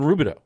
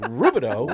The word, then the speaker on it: Rubidoux: And it's not spelled how it's pronounced. No, it ends with an X.